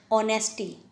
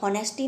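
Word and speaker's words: honest: ऑनेस्टी, हम लोग हॉनेस्टी नहीं पढ़ सकते, हम लोग क्या पढ़ते हैं?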